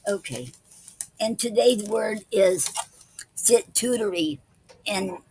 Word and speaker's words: sitooterie: And today's word is situtory, and it's spelled Sitooterie.